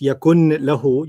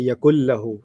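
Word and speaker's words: يكن له: So you don't read this yakun lahu, you say yakul lahu. So it's a pronunciation thing.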